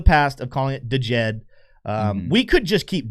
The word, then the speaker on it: Djed: So our apologies for the past of calling it the Jed. Um, we could just keep doing it just for the sake of doing it, but the correct pronunciation from what I understand is just Jed.